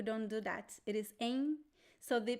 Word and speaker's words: em: We don't pronounce M. We pronounce em. We don't touch the lips. So it sounds a little bit like an N.